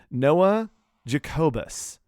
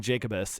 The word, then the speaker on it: Jacobus: Noah hold on cuz I've been mispronouncing it and he called me out on it he's like this is not how you pronounce my name I'm sorry okay Noah Jacobus Noah Jacobus um I've been saying Jacobus and it's not that so he made um